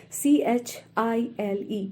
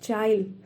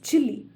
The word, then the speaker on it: Chile: great poet of Chile c-h-i-l-e don't get confused the pronunciation of this word is not child but it is chilly in Spanish it is pronounced as Chile but in English its pronunciation is chili Chile is the name